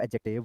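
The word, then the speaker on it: adjective: भाई इंग्लिश में जो एडजेक्टिव होता है एडजेक्टिव एडजेक्टिव नहीं होता एडजेक्टिव होता है डी साइलेंट कर दो क्या करो तो डी को साइलेंट करके पढ़ लो ठीक है तो क्या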